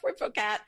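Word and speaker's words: Puiforcat: Uh there's Kristoff Kristoff and Poat the Kristoff it people in America sometimes call it Christophel because it's because of the way it's spelled and and that sounds awful. And the poat is a p ui fo r a t.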